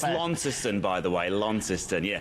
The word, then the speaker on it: Launceston: from the city of launceston am i saying that right launceston lawn sister i'm not sure how do you say it matt yeah you're pretty close there matty you're pretty close